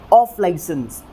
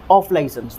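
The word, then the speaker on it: off-licence: अब देखिए यहाँ पे जो स्ट्रेस की पोजीशन है वो ओ वाली साउंड के ऊपर है, तो इसीलिए हमें जो है किस तरह से प्रोनाउंस करना है इसे, ऑफ लाइसेंस, कुछ इस तरह से, ऑफ लाइसेंस।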